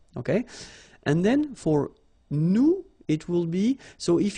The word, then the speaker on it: nous: if you remember correctly, so final S is not pronounced here. Okay, and then this O-N, so it's a nasal and it goes in your nose and it goes like on. Alright, so you don't hear any N, so it's really on.